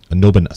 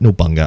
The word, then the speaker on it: Nobunaga: And Nobunaga's Ambition. Nobunaga. Nobunaga. Yeah, I always call it Nobunga.